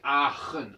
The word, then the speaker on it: Aachen: On dit Aachen, Aachen.